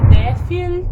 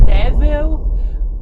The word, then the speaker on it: Derfel: A pronúncia pode ser Defil também, ou Devil, qualquer coisa assim, mas eu lia e como Derfel, então vou falar como Derfel porque foi isso que ficou na minha cabeça.